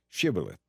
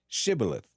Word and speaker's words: Shibboleth: If a man said, "No, I'm not," they would tell him to say Shibboleth. If he was from Ephraim, he would say Sibboleth, because people from Ephraim cannot pronounce the word correctly.